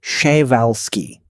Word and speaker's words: Przewalski: The Przewalski horse, pronounced roughly Przewalski, which is not how most English speakers attempt it on their first try, is often described as